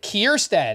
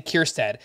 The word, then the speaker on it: Kjerstad: which one is it Heston kierstad and if you're trying to figure out how to spell it you're not alone that's k j e r s t a d Heston kirstad Ryan mountcastle exited due